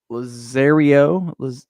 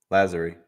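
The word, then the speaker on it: Lazzeri: So in the lineup, though, the Doo-Whoppers, Tony Lazario, say it? Lazary. Lazary? Yeah. Yeah, I butchered that.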